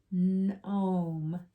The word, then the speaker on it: gnome: So skip the G, go right to the N. Gnome.